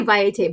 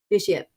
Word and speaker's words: Vitiate: My favorite Vitiate, the Immortal Emperor, pronounced I always say Vitiate, but I know it's Vitiate.